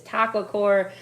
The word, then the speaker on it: Taqwacore: what we're doing tonight it is taco core that my friends is